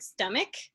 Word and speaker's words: stomach: pretty like actually that's we actually say that word stomach with a k sound and just making that